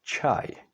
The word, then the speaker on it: čaj: In Czech words, you can see it, for example, in the word čaj, which means tea, or kočka, that's a cat.